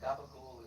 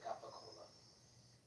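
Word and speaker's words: capocollo: I mean, Capocola? Yeah, I have. And gabagool is a stupid thing to say when you can say Capocola.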